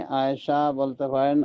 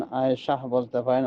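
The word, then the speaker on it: عائشة: তো কথা হলো যে শেষে একটা হ উচ্চারণ হওয়া বাঞ্ছনীয়, কিন্তু আমরা বাঙালিরা অতটা উচ্চারণ করি না, সেই হিসেবে আয়েশা আয়েশা বলি, আয়েশা আয়েশা বলি। তো সমস্যা নাই, আয়েশা বলতে পারেন, আয়েশাহ বলতে পারেন, আয়েশাহ বলতে পারেন, ওতে কোনো সমস্যা হওয়ার কথা নয়।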